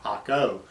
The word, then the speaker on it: Jaco: But if you know anything about Spanish, J's are pronounced like H's, so it's Playa Jaco, but it's spelled with a J, J-A-C-O.